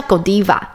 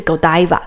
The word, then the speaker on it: Godiva: 叫做 Godiva，对，有人叫 Godiva，美国发音啦，那比利时当地的发音是 Godiva。